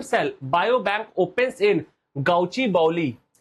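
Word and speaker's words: Gachibowli: तो India's first animal stem cell bio bank opens इन गाउची बाउली। तो गाची गाउची बौली या गाची बौली जैसे भी आप इसको प्रोनाउंस कर सकते हैं।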